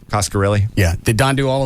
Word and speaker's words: Coscarelli: Coscarelli.